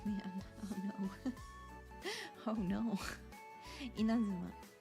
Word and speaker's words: Inazuma: Inazuma. In Japan, the na is the top note.